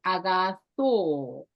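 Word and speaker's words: ἀγαθῷ: However, this iota doesn't make sound. Iota subscript. Subscript means right under a letter, so that this iota no sound. Just pronounce O, long O, agatho.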